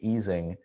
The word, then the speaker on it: Ising: same universality class as the easing model sometimes mispronounced the ising model of condensed matter physics